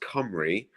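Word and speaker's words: Cymru: l-l-i-t-h and like uh whales in Welsh is comrie so it's pronounced Camry but it's spelled simru so like the the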